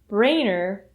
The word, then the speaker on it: brainer: When you're pronouncing the word brainer, make sure you make the A sound, which is a 2-part sound.